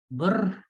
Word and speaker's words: BRR: BRR को अगर हमने एज अ वर्ड प्रोनाउंस करना हो तो क्या होगा? बर। हाँ, बर।